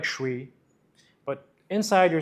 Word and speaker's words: chui: Okay, now the sound is CHUueeyy, commonly spelled as CHUI, but pronounced as CHUueeyy.